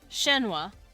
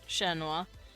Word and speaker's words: Shenua: So person, Shenua is how they pronounce it. Shenua.